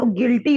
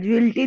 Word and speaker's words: guilty: यार वो गिल्टी होता है, ज्विल्टी नहीं होता, गिल्टी होता है।